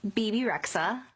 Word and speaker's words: Bebe Rexha: don't even know how to say her name Beibei Rexha is that how you say it my name is bebe Rexha bebe Rexha she was on a cover of